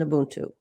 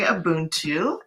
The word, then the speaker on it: Ubuntu: I say Ubuntu, and I think it's a little different depending on where you are in sub-Saharan Africa, how it's said.